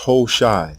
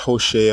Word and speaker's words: Hoshea: for these two sounds the king's name is pronounced ho shai not hoshea or hawashai ho shai this evidence proves the